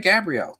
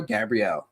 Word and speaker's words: Gabrielle: It's not pronounced like the angel, but I still am one. Appreciate you. All right, Gabrielle. Not Gabriel, Gabrielle.